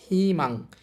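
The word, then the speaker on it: 희망: তাহলে হিউতের সাথে ইচ্চারণ হবে হি। হিমাং হিমাং অর্থ হচ্ছে আসা। হিমাংনা উচ্চারণ হবে হিমাং।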